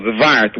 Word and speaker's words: zwart: Yeah, but it's not Schwarze because that's the German word. It's called Zwart with a Z. That's how they pronounce the black. How do you say it? Zwart. Z-W-A-R-T.